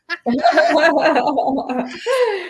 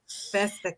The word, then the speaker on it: Vesica: Vesica. Yeah. Okay, got it. Vesica.